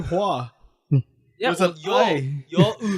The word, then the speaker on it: Hoa: My name is spelled HOA, but you don't call me Hoa. Yeah, do. we call you Hua.